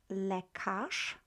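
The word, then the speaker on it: lekarz: let's take the word le cache le cache spelled z at the very end but we pronounce this as sha la cash la cash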